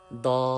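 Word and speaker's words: ض: Our next letter is Dad. Dad. Dad has full sound. Raise your tongue up toward the palate to produce full sound in Dad. That's very important. Please read after me. Dad.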